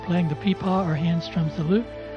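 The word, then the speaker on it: pipa: If you Google peepaw, and it's spelled P-I-P-A, you'll discover it's a Chinese stringed instrument, and this is basically where your hands are when you're playing it.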